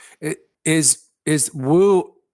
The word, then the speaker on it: Wu: Y is my given name it is is woo like in Italy where they have names based